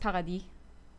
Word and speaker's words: Paradis: by uh Vanessa PADI or Paradis in French it's pronounced PADI uh Vanessa PADI haven't